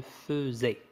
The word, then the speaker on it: faisais: Attention, ça se prononce je faisais.